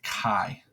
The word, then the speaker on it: chi: going to look like an italicized X we pronounce that as Chi okay now as soon as I drag it